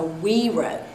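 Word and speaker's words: güiro: g-u-i-r-o but it's a we wrote it's a mexican spanish kind of instrument and so the g is pronounced like a w we wrote but it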